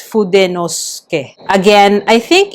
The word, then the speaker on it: Fudenosuke: other people pronounce it Fudenosuke. So again, I think it's because of the way English speakers pronounce it, but for the Japanese, again, it's pronounced syllabically, so it's Fudenosuke.